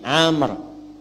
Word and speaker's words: Amr: namanya siapa Amr Bin Faiz Bismillah nah ini Amar Nah kalau dibaca begini Amar namanya kalau maunya hilang bacanya Umar Ya kan ya Ini siapa aman